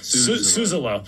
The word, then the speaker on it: Suzzallo: And now I'm super self-conscious about saying the name wrong. Suzzallo.